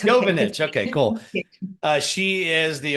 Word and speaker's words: Jovanic: Today we have Nat Jovanic. Am I spelling? Am I pronouncing that correctly? It's Jovanic, but it's okay. Jovanic.